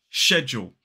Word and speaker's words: schedule: Now, in British English, in a modern British RP accent, we tend to say schedule.